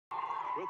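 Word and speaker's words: Juez: With a 6'2" sophomore from Mallorca, Spain. You would never know how to pronounce her name if you looked at how it's spelled.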